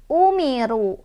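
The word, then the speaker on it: أُمِرُوا: Wa ma umiru. Ro-nya dibaca secara tafkhim karena ro-nya berbaris dhammah atau berbaris di atas. Jadi otomatis ro yang barisnya di atas dibacanya tebal, ditebalkan.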